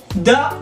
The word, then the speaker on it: the: The or the. Se pronuncia de las dos formas.